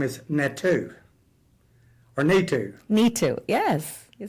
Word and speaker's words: Neetu: Neetu, yes.